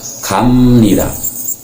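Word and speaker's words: 합니다: berarti Cup di depan tapi cara bacanya adalah Hamnida Hamnida dibacanya komedi dan Oke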